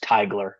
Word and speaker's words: Teigler: Um, just a word of clarification, the last name is pronounced Tigler.